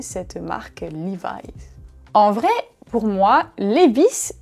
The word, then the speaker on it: Levi's: Oui, on dit Levi's. Levi's.